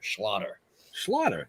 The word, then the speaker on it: Schlatter: I always say it's like it rhymes with otter, so it kind of sounds like a Jewish otter. Schlatter.